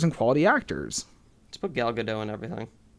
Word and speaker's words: Gal Gadot: Laugh at me for trying to pay respect to actresses, but I looked into it and I watched a video of her saying her own name, and it's Gal Gadot.